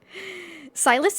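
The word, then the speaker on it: Sylus: Silas is spelled actually S-Y-L-U-S.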